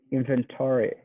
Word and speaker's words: inventory: one i would say inventory okay you gotta emphasize the the first syllable inventory inventory right okay